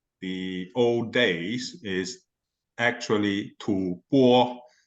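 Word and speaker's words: 吐蕃: uh make a point I think the uh pronunciation for Tibet in the old days is actually too poor not too fun it's mostly been been always been said as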